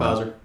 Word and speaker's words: Pfizer: How do you pronounce that one? Pfizer.